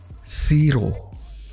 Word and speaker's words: Shiro: area kali ini adalah Siro tulisannya tuh Bukan Ini aah pengucapannya hampir sama dengan Zero Jaya cuman perbedaannya tuh dari Z gitu ya ya bilang